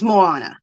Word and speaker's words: Moana: is is showing me how to say it Mo ah nah so it's Moana Moana okay cool craft